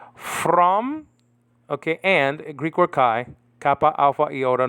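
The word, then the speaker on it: καί: From, okay, and, Greek word kai, kappa, alpha, iota, nowadays pronounced ke in modern Greek, okay?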